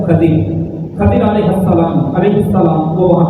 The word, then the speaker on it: خضر: احادیث میں موجود ہے، خضر پڑھا جاتا ہے، اصل جو اس کا تلفظ ہے وہ ہے خضر۔ خضر علیہ السلام وہ